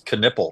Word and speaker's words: Knueppel: Knueppel.